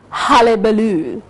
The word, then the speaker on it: hullabaloo: a point of pronunciation the word h-u-l-l-a-b-a-l-o-o is pronounced halle baloo ah as in cup not and it means